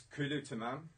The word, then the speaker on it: Kulu Tamam: It's Kulu Tamam, okay. Which means everything's cool in Arabic. Could you spell it for me?